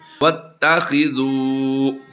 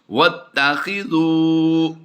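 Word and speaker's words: وَاتَّخِذُوا: वत्तखिज़ू। वअत नहीं करेंगे, वत वाउ ता ज़बर वत की अदायगी करेंगे। वत्तखिज़ू मिन मक़ामि इब्राहीम मुसल्ला वअहिदना इला इब्राहीम।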